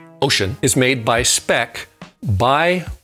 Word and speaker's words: Wouxun: wilkson kg 805g and works in is pronounced ocean is made by speck